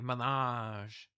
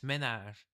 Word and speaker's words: ménage: But, Americans say ménage. It's ménage.